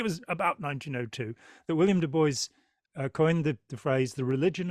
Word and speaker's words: Du Bois: Um, I I was fascinated by William Du Bois, and I'm told his name is Du Bois, not Dubois, as I would want to pronounce it in the Yeah, French.